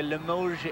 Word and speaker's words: Limoges: How do you pronounce that? The Limoges-style jewelry box? Limoges. This is a Limoges egg.